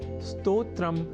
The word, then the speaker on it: स्तोत्र: यहाँ हमने स्तोत्र के उच्चारण और लेखन पर दिया है विशेष अवधान, अर्थात स्तोत्र में अर्ध सकार के बाद त और ओ इन दो अक्षरों का संयोग है और इसके बाद त्र इस संयुक्त अक्षर का। यदि हम यह ध्यान में रख लें तो कभी भी स्तोत्र के स्थान पर स्तोत्र या स्रोत जैसे उच्चारण या लेखन हमारे प्रयोग में ही नहीं रह सकेंगे।